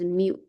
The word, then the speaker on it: mu: It's a mu. It's this notation. Remember with sample, with sample sample mean, we use X bar, right? So, population mean, we use this mu.